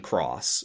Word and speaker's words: χ: And then, also in 2017, they started up a sequel called Union Cross, which is the same acronym, KHUX. The X is now pronounced cross instead of key.